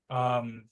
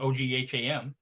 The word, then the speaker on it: Ogham: We'll get to it because Om is, and of course it's spelled Ogham. Om is the Irish runic lettering, read from bottom to top. I believe that's Ogham. No, it's Om. No, Ogham. There's a G there.